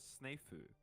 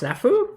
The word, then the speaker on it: snafu: impact our entire career that you pronounce snafu as snu what is it pronounced snafu the long Master of the Ninja Turtles is snafu really you're putting empis on the wrong I'm math guy not